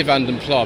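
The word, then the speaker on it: Vanden Plas: vanden plar owners club i say vanden plar there are other things you can say but in contemporary advertising in the 1980s austin robert used the abandoned player pronunciation but others are equally correct that's happened to sex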